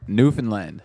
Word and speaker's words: Newfoundland: Newfoundland. I keep saying Newfoundland. Actually, we call. It's the same We thing. actually Most people call it from powder away now, call though. it Well, Newfoundland.